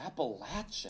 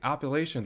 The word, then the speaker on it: Appalachia: dedicated to this fight how do you say appalachi I say appalachi but there's more than three ways to say it apparently it just depends where you live in the region all right that's going